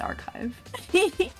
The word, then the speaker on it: archive: it might be it might be archive but not chive like the vegetables it's archive it's more eventful of chives